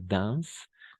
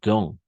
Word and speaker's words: dans: Y este no va a ser dance, sino dans. Nuevamente, AN va a ser ON. Sí, lo sé, no estamos habituados a eso, pero es así el francés. On. AN vamos a pronunciar como una on.